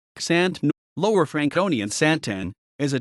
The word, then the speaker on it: Xanten: Xanten, German pronunciation, ksantän, Lower Franconian Santen, is a town in the state of North Rhine-Westphalia, Germany.